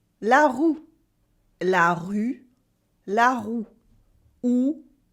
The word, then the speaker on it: roue: As in, for example, la rue for the street, la rue, and la roue for the wheel, la roue. Can you hear the difference? La rue, la roue, la rue, la roue, OU, U, OU, U.